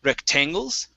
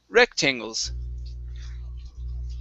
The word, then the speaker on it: rectangles: word uh rectangles so the stress here is at the very beginning instead of rectangles it's rectangles rectangles rectangles very nice very nice